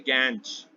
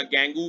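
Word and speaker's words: gangue: यही जो मिनरल होते हैं ये इम्प्योरिटीज होती हैं, इन्हें कहते हैं गैंज। क्या कहते हैं? गैंज, या गैंगू भी कहते हैं प्रोनाउंसिएशन, ठीक है।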